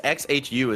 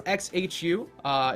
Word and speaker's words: XHU: So it's each letter is pronounced, I guess. XHU is the link.